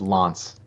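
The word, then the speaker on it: L'Anse: There's a different pronunciation for that, but um Oh, it's a it's Lance.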